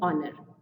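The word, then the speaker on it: honour: एन ऑनर, यहाँ पे ह जो है यानी एच साउंड जो है वो साइलेंट है इसलिए हम यहाँ पे एन ऑनर यूज़ करेंगे।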